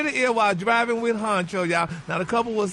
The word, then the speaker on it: Huncho: Keisha is back with her man, Huncho.